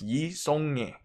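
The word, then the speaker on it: Yi Seong-gye: I think my Korean friend told me it's Yi Seongye. Alright, so I think that's the right pronunciation.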